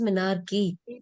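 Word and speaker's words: menarche: मैं हर क्लास में कहती हूँ, there are few medical terms जिसमें आप अगर, जैसे कुछ लोग मिनारकी को मिनार्क बोलते हैं, you should be clear it इज मिनारकी।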